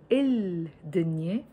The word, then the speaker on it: الدنيا: It's written الدنيا, but we pronounce it الدنيا. Why? Because the word دنيا, which means world, starts with the letter dal. The letter dal, we call it a sun letter.